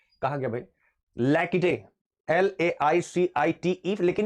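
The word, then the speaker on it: laïcité: ये एक वर्ड है, कहा गया भाई लैकिटे, LAICITE, लेकिन ये फ्रेंच वर्ड है। ये क्या है, लैकिटे, एक फ्रेंच वर्ड है।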